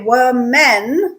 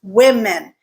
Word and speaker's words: women: Yes, I have no explanation for this one, but the correct pronunciation is women, as if the first syllable had an E instead of an A.